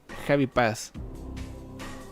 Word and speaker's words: Javi Paz: Mi nombre se pronuncia Javi Paz.